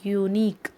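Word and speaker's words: unique: यूनिक. यू या, यहाँ पर भी वाई की साउंड आ रही है और वाई कॉन्सोनेंट है, इसीलिए इससे पहले ए आ रहा है.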